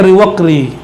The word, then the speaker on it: Riwaqri: Ini beberapa pembacaan di luar Sumatera ada yang salah baca. Riwakiri jadi nama kayak nama-nama pemain kartun tuh, Ryu. Teman-teman kita, sahabat kita Kiri namanya, Riwakiri. Bacanya Riwaqri atau sejenis itulah ya.